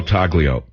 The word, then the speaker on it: Taglio: Primo Taglio, but you're not supposed to pronounce the G.